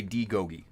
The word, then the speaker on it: Daigogi: D. Gogi. Thank you for the pronunciation.